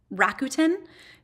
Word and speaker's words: Rakuten: So you can actually link if you use, I never pronounce them right, but Rakuten.